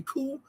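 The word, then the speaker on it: coup: the dictionary says about coop okay the dictionary says who is a noun that's c-o-u-p oop or we say cool and the C is us I mean the p is silent but you know it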